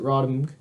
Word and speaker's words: RotMG: It's pronounced. Well, you can pronounce it that way, but I usually pronounce it Rodham.